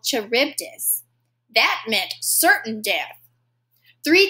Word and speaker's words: Charybdis: of death or death i'm gonna check my pronunciation god skila or charybdis skilla skila or charybdis death or death